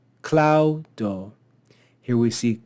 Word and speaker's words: claudo: Here we see claudo, claudo. Here we see kogo, kogo. The first syllable of any two-syllable word will be accented.